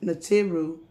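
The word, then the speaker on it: Neteru: ancestors in the turu pronounced natiru n-e-t-e-r-u are indwelling differentiated differentiated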